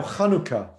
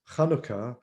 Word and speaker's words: Hanukkah: looks like a courtyard it's a guttural sound from deep in your throat and so if you're wondering how to pronounce hanukkah it's a hebrew word